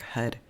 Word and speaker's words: har: these these mantras mean I chant h a r which is spelled hard but it sounds like HUD cu the r is a hard r d and that means god